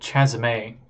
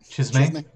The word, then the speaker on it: Chasme: I can never pronounce their name right, but they are called Chasme. Chasm? I don't know. It's Chasm with an E at the end. Demons. Chasme.